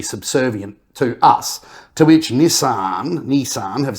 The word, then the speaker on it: Nissan: and Nissan it's correct way to say it Nissan 2323 Nissan we're going to merge with Honda